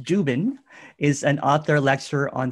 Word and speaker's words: Dziuban: Dziuban, pronounced Dziuban, is an author, lecturer on spirituality and consciousness.